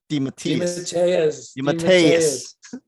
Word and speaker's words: DeMatteis: JM DeMatteis. DeMatteis.